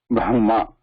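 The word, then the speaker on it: ब्रह्म: meant to represent that that is number one Brahma Etc and they should be pronounced like that because these are not like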